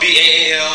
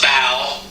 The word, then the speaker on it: Baal: The word Baal or Baal, sometimes spelled B-A-A-L, sometimes spelled B-E-L or B-E-L, sometimes pronounced Baal or Baal.